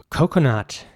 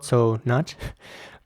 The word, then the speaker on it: coconut: Coconut is next. Coconut is spelled C-O-C-O-N-U-T. Coconut. And again, it's important to pronounce the C's in this word like a K. So it's not so nut, but it's coconut.